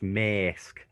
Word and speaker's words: Maersk: It's pronounced Maersk. It's not Scouts.